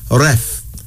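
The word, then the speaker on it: Reth: R-E-T-H, pronounced Ref.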